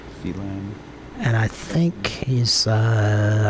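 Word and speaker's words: Phelan: right um he succeeded he didn't fail n or felin however it's pronounced p h e l a n felen and I think he's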